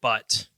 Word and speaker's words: Butt: No, Archibald Butt. It may be pronounced Butte. I don't know, but it's spelled B-U-T-T. But. Butte, Montana. That's B-U-T-T-E. That's true. So it's got to be Butt.